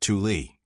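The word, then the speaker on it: Thule: Thou sometimes pronounced Tuli was first mentioned by the Greek geographer Pytheus in the 4th century B.C.E.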